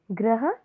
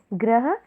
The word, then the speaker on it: ग्रह: है बैल यानी पशु ग्रह गृह यदि आप उच्चारण पर भी ध्यान देंगे तो इसमें काफी अंतर है ग्रह गृह गृह का मतलब